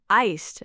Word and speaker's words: iced: Also, the word iced has a clear t sound at the end. Iced, like iced coffee, iced latte.